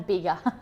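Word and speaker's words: Bega: this name is pronounced is it beggar valley nine bigger there we go a big valley property styling have you ever had bigger cheese i always pronounced it bigger is that wrong that's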